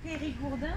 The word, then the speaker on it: Périgourdin: Do you say you're Dordogne or Périgourdin or something? You would say Périgourdin. I am Périgourdin. Okay, so you're basically very are you very proud of being Périgourdin, of course, Alexandre?